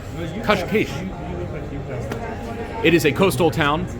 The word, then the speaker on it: Cascais: Today's adventures on Eating Global will take us to Cascais, or as the locals say it in Portuguese, Cascais.